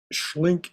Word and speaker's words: Schlenck: Schlink is spelled Schlenck.